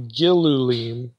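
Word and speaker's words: גִּלּוּלִים: that well maybe maybe Ezekiel is taking a term for feces which would normally be tr be uh pronounced galim and again takes that and alters it to gillulim maybe again taking the the vowels from the word for abominations the shikutene the things that are detestable in Leviticus and and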